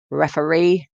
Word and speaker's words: referee: Reference, referee, and referral. That's reference with the stress on the first syllable, reference, referee with a stress on the third syllable, and referral with a stress on the second syllable.